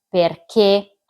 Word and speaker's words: perché: A sua volta l'accento grafico si divide in accento acuto, che è quello che va verso l'alto e indica che la e accentata va pronunciata chiusa, come nelle parole se, perché, affinché, poiché.